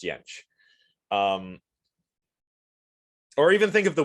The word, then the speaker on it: Jentsch: So yeah, in English the J's are like a J, but in other Germanic languages they're more like a Y. Right, so Fjord, not Fjord, Bjornsson, not Bjornsson, that kind of thing. So same with Jentsch, Ernst Jentsch.